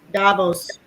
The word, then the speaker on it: Davos: Davos. Davos. Yeah. I'm sorry. I don't. No, I'm telling you that's how it's pronounced.